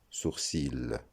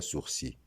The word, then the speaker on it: sourcil: Malgré que ce mot se termine par la lettre L, celle-ci ne se prononce pas. C'est une lettre finale muette. On ne dira donc pas sourcil, on dira sourcil.